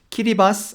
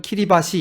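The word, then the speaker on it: Kiribati: 키리바스라고 하죠. 그래서 찾아보니까 키리바스도 맞다는 거예요. 그래서 이 녹음에서는 키리바스 아니면 키리바시 이거 둘 다 섞어서 하도록 하겠습니다.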